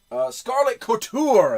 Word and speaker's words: Scarlet Couture: scarlet kurta starlit career I can't remember how to pronounce this scarlet Couture that's what it is scarlet quarter and this